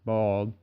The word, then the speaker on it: boiled: I've bitten into juicy tropical dragon fruit outside Miami, dripping red watermelon in Central Florida, and salty boiled peanuts, pronounced bald, in Tuscaloosa.